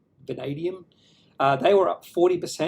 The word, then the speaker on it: vanadium: of march was australian vanadium limited so you pronounce it vanadium vanadium uh they were up 40 finish the day